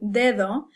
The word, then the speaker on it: dedo: I said that word dedo, the first one's a hard D, pretty much like English. The second D is kind of a real soft sound, so it sounds almost like the TH in the.